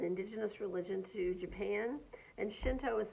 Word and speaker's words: Shinto: And Shinto is spelled S-H-I-N as in Nancy, T-O.